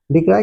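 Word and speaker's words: decry: डिक्राई का spelling है डी ई सी आर वाई डिक्राई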